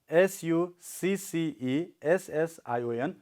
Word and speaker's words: succession: You can find there is a kind of mark, okay, after E before S. So it means that on that syllable we have to make our sound a bit louder, okay?